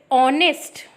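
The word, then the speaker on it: honest: क्या लग गया फिर ऑनेस्ट यहां पर ऐड साइलेंट रहता है तो इसको पढ़ते और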